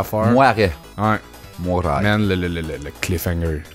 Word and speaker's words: Moirai: Deuxième shout-out, un jeu sur Steam qui s'appelle Moirai, M-O-I-R-A-I, ou Moiret, mettons que tu prononces vraiment comme de la merde. Moiret.